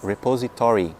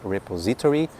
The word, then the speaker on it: repository: A sílaba tônica cai no to. Então é repository, não é repository, não é repository, é repository.